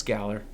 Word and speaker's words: Galar: Galar. Galar. It's Galar. I've heard it both ways. No, it's Galar.